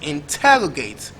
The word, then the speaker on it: interrogate: Now the word is usually stressed on the second syllable also, so the word is pronounced interrogate, interrogate, and not the usual interrogate that we usually pronounce.